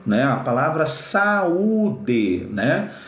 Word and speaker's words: saúde: Se você não acentua saúde, fica o verbo saude, né? Que é o verbo saudar, né? Saudar alguém, cumprimentar alguém, tá bom? Então, ó, saúde tem que acentuar para fazer o hiato, legal?